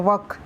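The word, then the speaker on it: walk: रहा है गलत है, यहाँ पर वर्क नहीं वाल्क आएगा। ठीक है, अभी वाल्क मेल साइलेंट है तो क्या आएगा, वॉक।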